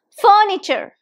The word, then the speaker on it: furniture: this furniture now again there are three syllables in this word furniture for nature furniture now where is the stress furniture this dress is on the first syllable three syllables and the stress is on the first one Furniture repeat after me